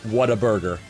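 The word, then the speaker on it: Whataburger: but like it's like it's got different pronunciations wh ha a t a burger what a burger cuz you're supposed to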